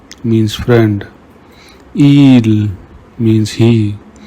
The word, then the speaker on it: il: Whenever you see I, pronounce it like E in the English word me. Ami means friend. Il means he.